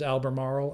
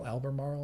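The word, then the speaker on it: Albemarle: This is Alber Marl. Alber Marl I think is how you pronounce it.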